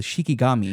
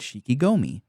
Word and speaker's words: Shikigami: It's your special boy powers called Shikigami. Shikigami, which, that's what it was. Every single voice line that your main character uses in the battles call it Shikigomi.